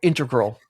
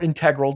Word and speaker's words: integral: These were all groups that were integral or integral, depending on how you say it, to the 70s music scene.